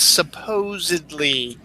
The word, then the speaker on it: supposedly: supposedly versus is supposedly the proper term is supposedly it's not supposedly and uh Joey was one saying it as supposedly or supposedly I'm sorry it's supposedly supposedly so it's not supposedly um and it's funny uh